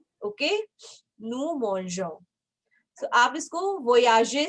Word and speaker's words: mangeons: So there will be या no change अगर in मैं इसको रिमूव करती हूँ ई को, ओके, सो इसकी प्रोनाउंसिएशन डिफरेंट हो जाएगी. नू Mongo. So Mongo, no, I want नू मोंजो. Why? Because I am saying मोंज.